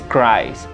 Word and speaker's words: cries: Y es cries. Se pronuncia normal, solamente que cambia la terminación IES. No se pronuncia la E, pues. Scries. Normal, como si tuviera S.